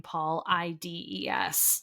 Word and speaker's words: Paulides: It's spelled like Paul, the name Paul, Ides. So I don't know how to say that.